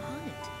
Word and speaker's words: H'aanit: I am Honnet. Honnet. Okay, that's how you say her name.